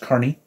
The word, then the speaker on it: Kearney: start there matt carney his last name looks like it's supposed to be pronounced kearney but it's actually pronounced carney and this is his